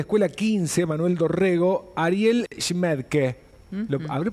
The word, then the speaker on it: Schmaedke: Facundo Araceli cómo están Bueno no sé si pronuncié bien tu apellido que sería bueno Perfecto perfecto este Ariel queriendo hacer